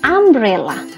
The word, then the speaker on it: umbrella: berikutnya Enno umbrela Enno Bella tadi tulisannya umbrela bacanya Umbrella Umbrella dimulai dengan fonetik a ah nah kenapa